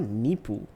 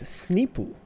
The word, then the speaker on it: Sneepu: It's not Nipu. It's Sneepu. Yeah.